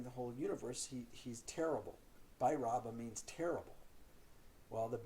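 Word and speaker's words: Bhairava: good point amongst them the v is not pronounced with a v i mean the v is not v it's a b so so they say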